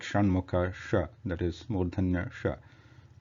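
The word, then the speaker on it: षण्मुख: Then, so for the word Shanmukha, this Sha, which is Murdhanya Sha, is used. And the similar to the same Vishnu is also to be pronounced with the Shan, like Shanmukha Sha, that is Murdhanya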